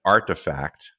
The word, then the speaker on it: RTFKT: studios they bought uh i understand that the kids pronounce that brand artifact uh it's actually kind